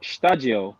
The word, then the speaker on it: Stadio: it is difficult to pronounce for most people, but once you get it, it just sticks. So it's not katakana? No, it's stadio.